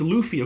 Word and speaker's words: Luffy: who watches one one piece uh Luffy it's Luffy okay I was like I'm I'm not familiar